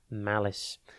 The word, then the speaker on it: malice: Today's word is malice. It is pronounced ma-lice, and it is spelt M-A-L-I-C-E. Think mal and then ice.